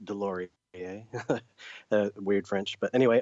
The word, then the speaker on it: Deslauriers: I'm my name last name is pronounced de Lori yeah weird French but